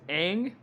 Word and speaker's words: Aang: In this movie, his name is pronounced Ung. Okay, that's like, there's no O in his name. I was like, what? His name is not Ung. I mean, there's A words that have the O sound, like that.